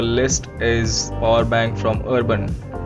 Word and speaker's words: URBN: Now moving to the next product on our list is power bank from Urban, or you can spell it as URBN. I will call it Urban.